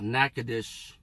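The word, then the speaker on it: Natchitoches: one city called uh nakadish it doesn't even spell it the way it should spell but it's just it has a strange spelling but it's because of french pronunciation you would pronounce this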